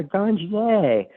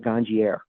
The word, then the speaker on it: Ganjier: I'm pronouncing that correctly yeah ganier uh unless you're Patrick the soil King and he calls it ganier okay you're the managing